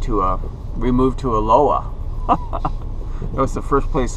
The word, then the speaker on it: Aloha: really strange here because they pronounce it aloa the H is silent but it's spelled Aloha so I don't know